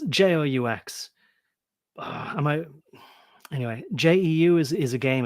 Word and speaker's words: Joux: I'm not going to waste too much, but it's JOUX. Anyway, JEU is a game as well, but JOUX.